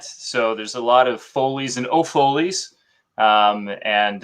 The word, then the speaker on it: Foley: love it well hey welcome welcome am i pronouncing your name right correctly you got it perfect my friend foley foley yeah it's it's a very unique name